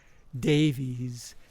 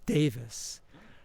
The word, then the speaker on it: Davies: the last name as Davies, Ray Davies, but it's actually pronounced he pronounces it Davis.